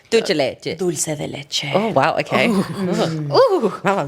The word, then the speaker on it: dulce de leche: I know, Can you just say it's the way she pronounced dulce dul- like dulce leche. dulce de leche.